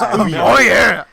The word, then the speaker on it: Ouya: Hands down, Oya. Or Oya, or however you pronounce it. However the hell you pronounce that crap. Ooh, yeah. Ouya. I think it's like, oh yeah, almost. It's oh yeah.